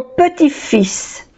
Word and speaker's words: petit-fils: Y aquí petit-fils no se pronuncia la T. Y aquí igual no se pronuncia la L.